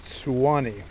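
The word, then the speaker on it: Suwannee: Swan s w NE the locals pronounce it Swani kind of like a sue sound at the beginning that's because it's spelled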